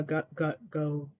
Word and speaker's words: godet: a huge fan of the godets uh go go that they have in uh this skirt I think you pronounced the T on that godet um but I do